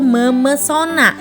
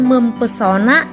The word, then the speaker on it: memesona: menjadi kata baru yaitu memesona ho bukan mempesona atau mempesona nah disini Inilah yang disebut dengan meluruh ya Jadi huruf P luluh menjadi m bukan mempesona atau bukan mempesona tetapi memesona karena setelah awalan men